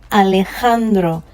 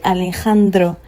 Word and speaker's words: Alejandro: So, the letter J, anytime you see the letter J in Espanol, it is pronounced as H. Okay? It is pronounced as H. So with this word, for instance, I'm going to say Alejandro.